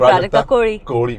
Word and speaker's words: Prajakta Koli: Like when I say, oh, this is Prajakta Kohli, but if you remember how I said, you said Prajakta Kohli because correct.